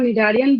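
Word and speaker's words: Cnidaria: अगर हम वहां निडारियन बोल रहे थे तब सी साइलेंट था, यहाँ टीनोफोरा में भी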